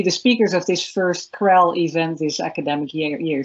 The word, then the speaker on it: CREL: this uh Krell Center I I kept saying cell to Elana and Harriet but now I know how to pronounce this Krell what an incredibly diverse and multidisciplinary and impressive